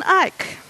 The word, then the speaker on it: Eich: JavaScript, and his name is, yay, and you pronounce it right, cool, Brandon Eich.